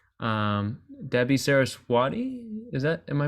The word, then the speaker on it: Sarasvati: But it looks like Debbie Saraswati, am I pronouncing the last name correctly? Yeah, Sarasvati. It's kind of a combination of W and V.